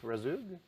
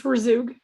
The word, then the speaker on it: Razoog: go to rezug am i saying i need to hear your last name well i don't even say it right it's razoog okay great i will mispronounce